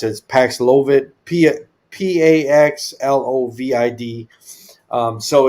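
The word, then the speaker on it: Paxlovid: this Mission it's I don't know how to pronounce it paxilovit p-a-x-l-o-v-i-d um so it's given for uh HIV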